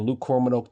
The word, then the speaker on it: Luke Kromenhoek: That's how you say his name, Luke Kromenhoek, the whole game.